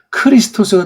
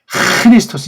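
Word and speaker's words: Χριστός: 카파가 되면 이건 크리스토스가 돼요. 카파가 아니잖아요. 카가 아니에요. 크는 틀린 발음이에요.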